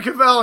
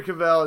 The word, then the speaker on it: Cavill: Henry Cavill and Tom Welling.